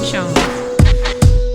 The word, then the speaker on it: Joans: Ted Jones. Man, his last name is spelled Joans.